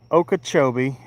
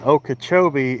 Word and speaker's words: Okeechobee: if anybody's interested, you can go on Lake Okachchobee crappie club and I I post quite a bit on on there. And okachobee is spelled o k double e c h